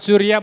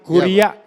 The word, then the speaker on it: curia: Bukan curia, bos saya guru bahasa Latin, kuria Iya. bacanya.